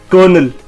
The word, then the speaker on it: colonel: So it's colonel. और इसकी जो pronunciation है वो है KUH-NUHL, colonel. So it's colonel.